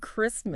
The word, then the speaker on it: Christmas: And Christmas. Right. The C is a K sound. Like Christ. Not she like chair.